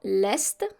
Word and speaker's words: est: Dans l'est, remember here, with the east, we need to pronounce the S and the T.